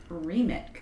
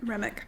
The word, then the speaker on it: Remick: The show follows Matt Reik. Is that how you say it? Remick.